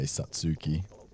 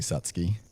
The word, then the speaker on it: Satsuki: Uh, we would say Satsuki. Okay. But it's actually Satski. Okay. Again, the U is silent.